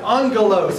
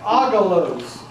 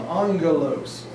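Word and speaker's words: ἄγγελος: Now you'll notice that it looks like agalos. But when there are two gammas together in a word such as this, it is pronounced almost with an N sound, angelos.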